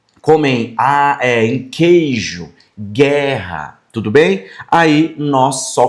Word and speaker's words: guerra: Esse gu em algumas situações, não vai aparecer o u. Só o som do g igual em guerra. Tá vendo? Guerra. Agora a diferença pra água, ó. Ó, a gua. Tá vendo esse, ó? O gu aqui já aparece o som do u.